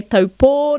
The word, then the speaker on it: Taupō: So you might want to say taupō, noticing that there's a macron on that last or. That's where our focus and stress is going. Taupō.